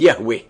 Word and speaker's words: Yahweh: as I am which in Hebrew is pronounced Yahweh.